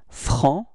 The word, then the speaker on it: franc: So masculine form is franc. So you don't pronounce the final C, okay?